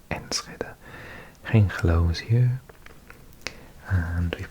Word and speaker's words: Enschede: I used to say it Enschede, but I think someone told me in a comments section once it's actually Enschede. So I think this place is pronounced Enschede.